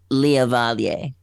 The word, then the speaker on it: Liavalier: But the way it's actually pronounced is Liavalier.